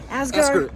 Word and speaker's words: Asger: Did I pronounce it right? Asger? Asger.